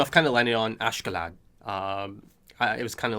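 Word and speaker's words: Askeladd: uh essentially you know the japanese pronunciation of it is a bit different than or you know a japanese voice actor pronouncing it is a bit different than um uh the actual pronunciation of it perhaps um but you know ashkelot is the one that sounds about right to me so i'll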